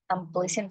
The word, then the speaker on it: unpleasant: Andrea, number 6, my seat was next to an unpleasant child. Unpleasant, no? Unpleasant. Now here the pronunciation is please. Notice the change in the pronunciation.